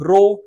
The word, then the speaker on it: rho: रो का मतलब क्या होता है बच्चों, ये सिंबल है, इसको हम लोग रो बोलते हैं। ठीक है, हिंदी में रो बोला जाता है, इंग्लिश में RHO स्पेलिंग।